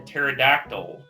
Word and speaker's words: pterodactyl: can't you hear a pterodactyl using the bathroom I have no idea because the P is silent that was good that